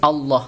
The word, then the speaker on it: Allah: Ya, ada lafal Allah didahului oleh harokat fathah, maka dinamakan tafkhim. Bacanya harus Allah tebal.